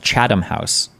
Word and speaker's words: Chatham House: international law at the University of Cambridge it's pronounced chadam house okay the full biographies of the panel members